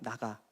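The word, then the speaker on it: נגע: 25절에서 허벅지 관절을 이 쳤다라는 것, 히브리어로 보면은 발음이 나가예요. 나가. 한국 발음하고 좀 비슷한데, 히브리어로 나가 그러면은 이것은 만지다 또는 손을 대다라는 뜻입니다.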